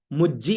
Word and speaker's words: मुज्जी: अब आगे देखो, मुज्जी हाना हा। ठीक है, मुज्जी, मुंह आधा ज पूरा ज में छोटी ई की मात्रा, उच्चारण क्या हुआ मुज्जी, क्योंकि मुंह के साथ में आधा ज फिर पूरा ज, तो मुज्जी मुज्जी मुज्जी